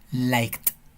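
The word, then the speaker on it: liked: es un verbo regular se le agrega Ed y se pronuncia like como con una t al final like y el complemento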